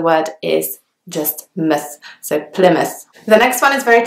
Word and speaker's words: Plymouth: but actually it's pronounced Plymouth so the Y is pronounced like almost like an eye and then the second part of the word is just miss so Plymouth the next one is